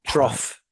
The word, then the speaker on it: trough: Another one that you used was Trough. Trough. trough. Yeah. Trough. This is a weird one. It's spelt, it sounds like trough, but it's spelt T R U G Trough. H.